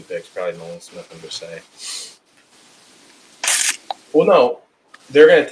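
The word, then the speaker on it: Bresee: It's going to be Nolan Smith and it's going to be Brisset. That's how you say it, right? From Clemson. Brisset, yeah.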